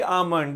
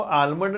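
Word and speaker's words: almond: Daily आमंड, daily आमंड। इसको आलमंड नहीं पढ़ना, एल साइलेंट है, बच्चे इसको आलमंड पढ़ते हैं अक्सर, actually should be pronounced as आमंड।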